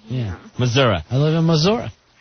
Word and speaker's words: Missouri: What's it end with? Because they'll say Missouri. Yeah, I like... An I. It ends with an I. They'll end it with an A in the pronunciation. Yeah. Missouri.